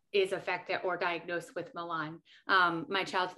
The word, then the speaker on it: Malan: she's actually going to talk to us about milan syndrome did i say it right yeah yes hi everyone i'm brandi um and my connection to milan syndrome is that i am one of the